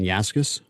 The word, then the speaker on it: Yaskus: But, I'm very happy to meet with Yaskus, and I pronounced that right, to Resilience Development in Action. So welcome. Thank you. You did pronounce it right.